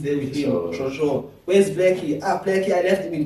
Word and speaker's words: 6LACK: We can't skip Blackie, dog. Yeah, we're going to that. We're heading to that. After meeting Six Leg, pronounced as Black, and call him Ricardo.